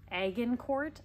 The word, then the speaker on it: Agincourt: lilac bush this is the egg in court I think is how you pronounce it a-g-i-n Court Beauty it's like a deep